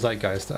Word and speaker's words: zeitgeist: zeitgeist yeah the cultural zeitgeist i didn't know how to pronounce that word like heist yep oh i mean